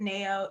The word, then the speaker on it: Nayo: i know everybody does it looks like mayo pronounced it neo it's all good um